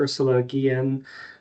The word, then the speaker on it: Ursula Guillen: Ursula Gillian. I hope I've got your name pronounced correctly there.